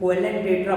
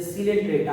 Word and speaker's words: Coelenterata: सीलेंट्रेटा, सीलेंट्रेटा वो silent होता है, कोएलेंट्रेटा बहुत लोग पढ़ देते हैं, ये सीलेंट्रेटा है।